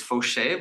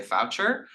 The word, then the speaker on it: Faucher: for mine so my last name is a French last name it's fche but it's spelled f a u c h e r um most people look at that and they say foucher um my family is